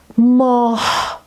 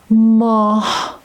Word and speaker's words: ماه: For instance, in the word ماه. In the word moon, you hear he at the end of the word ماه.